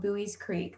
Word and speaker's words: Buies Creek: All right, so Campbell's location within the state, you can see here, we are located in a small rural town called Buies Creek. That's how that's pronounced.